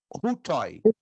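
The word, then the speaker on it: οὗτοι: Aí eu pronuncio hutoi. Hutoi.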